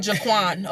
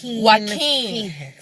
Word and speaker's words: Joaquin: Because I was gonna call him Jaquan. Okay, that's how it looks. Joaquin Phoenix is an outstanding actor.